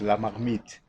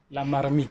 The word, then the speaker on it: La Marmite: Okay, I can first correct to pronounce La Marmite. La Marmite. La Marmite is in French, that means pot.